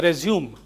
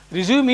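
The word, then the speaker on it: résumé: Resume is to continue from where you left. That is one word. But with slash here and here, because this is a French word, it is pronounced as resume.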